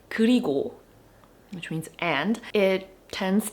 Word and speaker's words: 그리고: So for example, a word like 그리고, which means and, it tends to get pronounced as 그리구, 그리구. It should be ko, but sometimes people pronounce it as 구, 그리구.